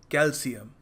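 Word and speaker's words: calcium: सो आपको ध्यान में रखना है कैल्शियम, कैल्शियम। Alright, so make sure the next time you use this word श की जगह स लगाना, कैल्शियम।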